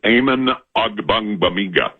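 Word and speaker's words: Amen Ogbongbemiga: I'm just working on my Amen Ogbong Mamiga pronunciation this morning. Yeah. How do you say it again? That is Amen Ogbong Mamiga.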